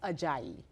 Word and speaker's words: Ajayi: I always say, hey, that's actually not how you pronounce it, it's Ajayi.